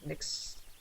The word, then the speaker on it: Mx: a gender neutral title I guess you pronounce that mix mix so like mix